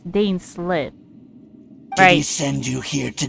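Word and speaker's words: Dainsleif: pronounce dane slip's name it's not dane slap it's dane slit i send you here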